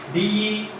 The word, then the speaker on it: debts: D-E-B-T-S. D-E-B-T-S. Debts. The letter B is a silent. Should not pronounce it.